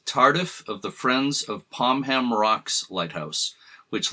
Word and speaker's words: Pomham: And by the way, there's some debate over whether it's pronounced Pomham or Pomham. I'm going with Pomham, which seems to be a more traditional pronunciation, and you'll hear some